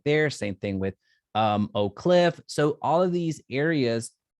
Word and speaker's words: Oak Cliff: like a tour about Oak Cliff, did I pronounce that correctly? Yes. Oak Cliff.